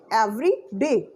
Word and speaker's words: every day: clear is every day two words every day every day the stress is on day every day and it